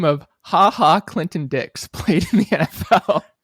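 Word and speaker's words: Ha Ha: clear false really yep HaHa Clinton-Dix did in fact play in the NFL is it pronounced haha yep it is oh you're gonna realize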